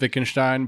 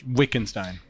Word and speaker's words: Wittgenstein: Matt would like to acknowledge that it is pronounced Wittgenstein, but yet he will choose to continue to call it him Wittgenstein.